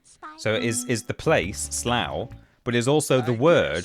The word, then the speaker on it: Slough: You pronounce it like slow it.